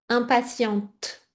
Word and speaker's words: impatiente: Et attention, donc toi comme tu es une femme impatiente avec le T prononcé, d'accord ?